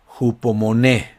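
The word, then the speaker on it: ὑπομονή: Y aquí se pronuncia en griego hupomoné.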